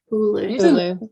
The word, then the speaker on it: Hulu: Hulu.